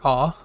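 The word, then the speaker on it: あ: this is the character ah it's the first kana and the alphabet uh it's pronounced like the a in car ah or the a and awful awful and here's the character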